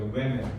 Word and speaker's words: women: woman이 아니라 women이라고 읽어야 돼. women. 알겠지? 그래서 복수형이거든 이게. woman. 여성의 복수형인데 복수형으로 쓸 때 이를 쓰고요. 이렇게 했을 때 발음은 women이라고 합니다. 알겠죠?